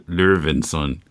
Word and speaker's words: Loewinsohn: Yeah, I want to pronounce it in German, Loewinsohn. So that OE would be an O with an umlaut over it.